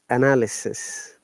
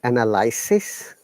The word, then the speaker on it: analysis: is another sound and it should be pronounced as analysis not analysis remember analysis it there is no why analysis so the best